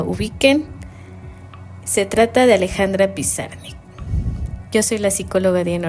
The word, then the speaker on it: Pizarnik: Y al igual que muchas familias migrantes, su apellido se castellanizó y en lugar de ser Pizarnik sufrió esta modificación y es así como lo pronunciamos el día de hoy, que es Pizarnik.